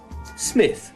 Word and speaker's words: Smythe: one name so i'm gonna say gerard smythe smith smith i think he'd uh he'd pronounce it um jarrod of course known online